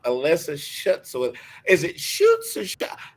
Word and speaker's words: Schutz: shuts with is it shoots or how do you pronounce that your last name melissa she shoots a basket shooting a basket shoots basket i love it because